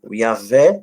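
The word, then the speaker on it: Yahweh: gente fosse pegar aqui a pronúncia Hebraica diz o iavé sebaúten ou Yahoo dos exércitos como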